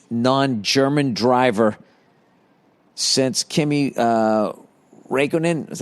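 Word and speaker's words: Räikkönen: the first non-english non-german driver since kimmy uh raikkonen is how you say his name it's only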